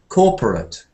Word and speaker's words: corporate: because I think that when we see the ending of a word like this one, with the ATE ending, I think that unless it's a verb, it's going to be pronounced as corporate. Corporate. I think only verbs have a kind of 8, like I rate it quite highly.